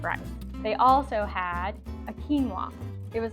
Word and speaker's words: quinoa: And fun fact, when I first heard or saw the word quinoa, I said quinoa. That's how I thought you said it. That's how it's spelled, right? But it's quinoa, so now you don't